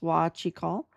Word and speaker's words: Huachicol: That's this word here, pronounced wah-chee-KAHL, right?